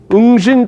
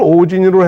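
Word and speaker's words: 応神: 그런데 일본 석일 보면요 요거를 발음을 오진으로 해라 이렇게 써 있어요 오진 응신 있데 응신 오진으로 해라 이렇게 지금 발 토를 달아놨어요 근데이 왕이 왕이 오지네요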